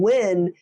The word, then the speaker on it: Nguyen: And Win is the Nguyen.